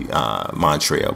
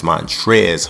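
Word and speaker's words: Montrezl: Montrez, because I thought it was actually Montrell, but it's Montrez Harrell. The L is silent, someone brought to my attention.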